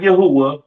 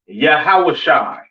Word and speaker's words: Yahawashi: forth and so on now Christ's name in Hebrew is not Yahweh it's not yahoshua all right it is yahawashi all right yahi all